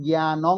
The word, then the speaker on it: জ্ঞানং: বলতে চেয়েছি বুঝা গেছে যদি জ্ঞানের পরে যদি অনুস্কার থাকে তাহলে কি হবে ম উচ্চারণ হবে সেটা জ্ঞানমং ন হবে না ন হবে না সেটা ম হবে জ্ঞানম জ্ঞানম ম ঠিক